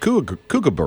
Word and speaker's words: kookaburra: A big kookaburra.